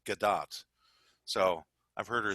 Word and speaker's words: Gal Gadot: gal gadot's name because she's not French she's Israeli and it's actually pronounced gdat so I've heard her